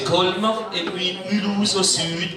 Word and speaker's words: Colmar: Colmar au centre, prononcé Colmar, et puis Mulhouse au sud, prononcé Mulhouse.